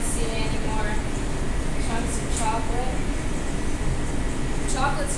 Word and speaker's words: chocolat: So, instead of like saying like chocolate, your c h would sound like s h, so you'd say chocolat.